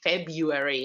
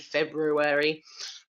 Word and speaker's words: February: that many many people many native speakers of English don't say the R sound they'll say February instead of February for students that's gonna